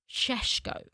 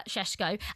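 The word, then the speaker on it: Šeško: We found out that how you pronounce his name is actually Benjamin Cheshko. So if you are someone that and I think everyone needs to do this, everyone should be trying to pronounce his name properly. And it is Benjamin. It's not Benjamin, it's Benjamin. Uh Shesho.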